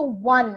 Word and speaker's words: one: rupee note okay so one I have again it doesn't have the o sound okay like orange orange it doesn't have that o sound it has a sound of w okay one rupee note